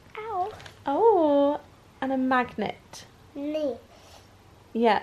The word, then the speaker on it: Nice: Nice. Yeah, it's spelt like nice, but it actually is pronounced niece.